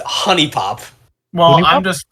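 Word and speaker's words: HuniePop: Like, Mans goes out after playing Hoonie Pop and buys like 3 anime body pillows.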